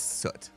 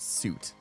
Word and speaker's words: soot: I think it's soot, not suit.